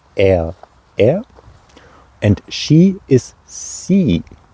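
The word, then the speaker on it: sie: and in German it's simply three letters i c h pronounced which is a sound that might um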